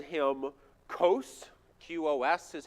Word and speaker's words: Qos: have a single god and they called him kos qos is how we spell it and he is near identical to the